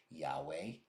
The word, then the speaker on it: Yahweh: He recognized Yud He Vav He, what we pronounce Yahweh, and he recognized Elohim.